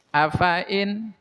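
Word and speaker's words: أفإين: Tapi di sini f-nya jangan dibaca panjang ya. Jangan afa immata, tapi fanya-nya pendek. Tah dibacanya seperti ini. Afain.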